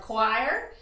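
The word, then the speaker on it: coir: i have here i have a mixture of choir which is spelled c-o-i-r it's a coconut fiber i have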